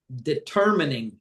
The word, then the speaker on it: determining: Quantitatively better determining determining deter deter. So the first e is e. The second E has no sound because the R is dominating.